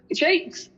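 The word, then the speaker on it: JVKE: It's Jake.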